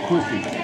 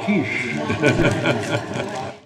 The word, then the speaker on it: quiche: He says, I'll have a quickie. Is it on the menu? Only on the menu. It's on the menu. Where? That's pronounced quiche.